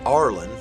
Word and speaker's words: Ireland: Now, in Ireland, they actually pronounce it Arlen, so you might want